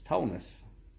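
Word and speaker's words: Tonis: but my name is Tonus. And it is spelled T-O-N-I-S, spelled like that, but pronounced kind of like, best way I can tell everybody is Jonas, but with a T.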